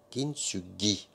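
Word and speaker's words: 金継ぎ: Kintsugi. Voilà, c'est comme ça qu'il faut le prononcer.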